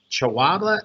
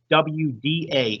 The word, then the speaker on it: Chawda: Our next speaker I have, and forgive me if I mispronounce your name, and it's Chawda. If you are here, please identify yourself for the record. Hi